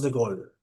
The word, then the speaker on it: de Gaulle: Este es Charles de Gol. Lo mencioné muy rápido, pero es Charles. Se escribe de Gaulle, pero es Charles de Golden.